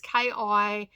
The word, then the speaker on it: Kinnear: Now, the actor is called Rory Kinnear, I think is how you pronounce it. It's Kinnear.